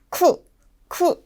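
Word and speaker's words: 九: 세월 그리고 날짜 시간 날짜와 시간에 들어갈 때는 반드시 쿠라는 발음을 정확하게 넣어 주셔야 됩니다 절대로 키우라고 발음해서는 안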